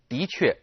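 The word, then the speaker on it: 的确: Now notice that the de character here is pronounced 的确.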